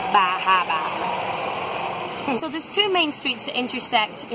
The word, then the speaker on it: Bar Harbor: Even buy a t-shirt that tells you how to properly pronounce the name of the town. Bahaba.